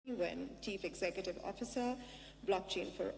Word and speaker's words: Nguyen: As you heard, my name is -Nguyen, but in Vietnamese it's actually pronounced Nguyen. Very difficult for people to say, especially in America.